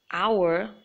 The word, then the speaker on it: hour: And similarly, hour is not hour. Just don't say ha. Just leave out that H sound in the beginning and just say hour.